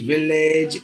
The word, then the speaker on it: village: uh average package message Village a only the ending part instead of telling the long sound like age it should be itch like this look at